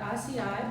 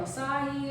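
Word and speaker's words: açaí: Okay, so today I'm going to make an acai bowl or acai. It just depends on, so many different ways you can pronounce it, but I do pronounce it acai, but some people pronounce it acai.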